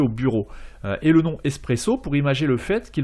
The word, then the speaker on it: espresso: s'écrit b ureau et un expresso se dit en italien espresso avec un s à la place du x et en faisant le